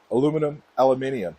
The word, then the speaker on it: aluminum: have the 26-inch Duro tires on the 14-inch aluminum. How do you say it? Aluminium.